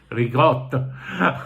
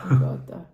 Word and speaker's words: ricotta: Ricotta, a word too often mispronounced, not here. Ricotta. Ricotta.